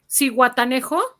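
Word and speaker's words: Zihuatanejo: Yeah, How do you pronounce games this in one, Mexico, USA, and How you- Canada? Cihuatanejo.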